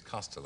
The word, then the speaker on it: Costello: Costello anyway should know the Irish pronunciation is coastal exactly it's just these